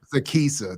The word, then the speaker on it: Sekesa: And first of all, let me make sure I'm pronouncing your name correctly. Sekesa. Sekesa.